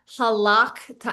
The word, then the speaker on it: halakht: Um but if it's at the end of a word, you will not say the schwa. So it's halakht. And this schwa is actually not pronounced either. So both of these are actually silent which is kind of a it's kind of hard to say this word.